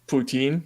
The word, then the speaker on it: Poutine: and um you know how they pronounce vladimir putin's name in france poutine poutine i haven't this really